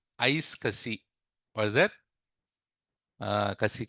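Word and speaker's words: iSCSI: ISC I I isi so we in real time we call it as ice Cassi what is that uh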